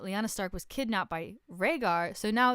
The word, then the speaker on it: Rhaegar: don't know is that a prince named Roger or as she pronounced it or Rhaegar how it's actually pronounced was married got an